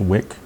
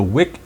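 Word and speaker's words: Wieck: W-I-E-C-K, I guess it's pronounced Wick, something like that.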